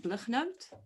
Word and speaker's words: Blignaut: Blignaut. You can hear the South African pronunciation.